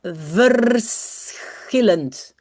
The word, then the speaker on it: verschillend: What you should know is that you pronounce v. Then you pronounce s. And then you pronounce the c h like So, it becomes verschillend. Verschillend. It's not like s c h in German, where that becomes sh.